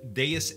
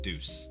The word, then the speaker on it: Deus: Today we're going to be looking at SCP Explained and Deus Ex Machina. I think you pronounce it Deus instead of Deuce.